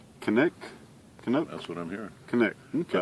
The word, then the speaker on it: Canik: Canik. Okay. I think Canuck would be the Canadian version. I'm hearing Canik.